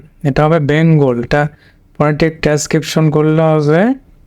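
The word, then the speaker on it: Bengal: শেষের আইটা কিন্তু একটা ফোঁটা হবে, এ হলো বেঙ্গলি।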